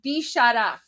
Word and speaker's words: Bisharaf: So for anyone who's wondering, it's pronounced Bisharaf, like this. There you go. So they're chanting Bisharaf with an F at the end.